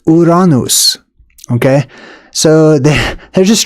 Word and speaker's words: Uranus: Uh, now if you call it by its actual name, which is Uranus, then people will have probably have no idea what you're talking about.